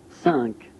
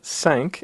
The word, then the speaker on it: cinq: cinq, The number cinq is yet another nasal vowel, so a little bit different from un. It's a slightly higher nasal vowel, un, and so we pronounce cinq, again feeling a vibration